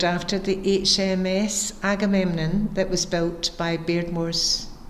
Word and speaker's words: Agamemnon: So, Agamemnon Street fascinated me because it's got four syllables to its name and it sounded quite like the song Aadoo.